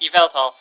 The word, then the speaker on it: Yveltal: possibly have, because Yveltal's Yveltal, that's how it's pronounced, Yveltal.